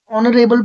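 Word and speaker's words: honourable: ऑनरेबल person H silent होगा।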